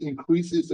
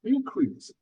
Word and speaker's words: increase: on the first syllable, increase, this is noun. If we put stress on the second syllable, increase, this is verb.